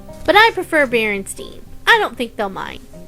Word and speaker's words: Berenstain: Bears books but did you know it's actually pronounced Berenstain but I prefer Berenstein I don't think they'll mind thanks for watching